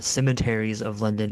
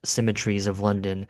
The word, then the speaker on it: Cemeteries of London: I I pronounce the song I I generally pronounce it symmetries of London which I know is an incorrect pronunciation but in the song they say symmetries of London.